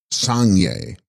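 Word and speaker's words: སངས་རྒྱས: The text contains Tib Sangs Rigas, pronounced Sangye, Sanskrit Buddha.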